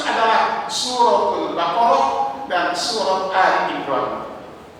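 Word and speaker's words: آل عمران: Yang dimaksud adalah suratul Baqarah dan surat Ali Imran. Ali Imran ya, bukan Al-Imran, saya salah bacanya. Ali Imran.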